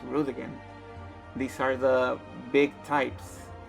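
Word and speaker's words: Roegadyn: root again that's right it's pronounced rude again these are the big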